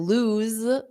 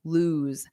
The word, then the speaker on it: lose: So loose ends on an S, and then lose z, ends on a voiced sound, a Z, lose.